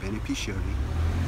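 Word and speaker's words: beneficiary: 제가 베네피셔너리라고 했는데 베네피셔너리가 아니고 베네피셔리입니다. 중간에 제가 너를 넣었는데, 아니 베네핏이라는 게 머릿속에 떠돌다 보니까는 너를 붙였는데 베네피셔리입니다. 수혜자, 수익자라는 뜻. 베네피셔리.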